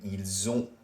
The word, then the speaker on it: ils ont: Can you hear how there is a Z sound in ils ont, elles ont, which is they have, and an S sound in ils sont, elles sont, they are?